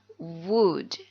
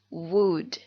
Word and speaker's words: would: like to introduce myself ingat dibacanya wood wood I would like to